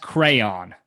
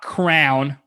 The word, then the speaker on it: crayon: By the way, it's pronounced crayon, not crown.